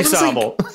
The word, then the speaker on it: Sobble: It's definitely Sobble. I was like, what? Like that doesn't make any sense. Like it's supposed to be a pun. Like Sobble just makes sense.